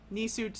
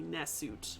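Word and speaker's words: nswt: Nisut is a little bit, that's just how we pronounce it. It would be Nesut, but that's the same thing. That is how Egyptologists pronounce it.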